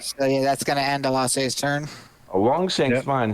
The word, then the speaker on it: Elasse: You had it right the first time. Okay, Elasse.